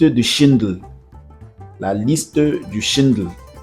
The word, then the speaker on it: Schindler: La liste du Shindle, c'est en anglais, c'est c'est un peu compliqué de prononcer. Shindle, c'est S I euh N. La liste du Schindle. Schindler si on veut prononcer en français.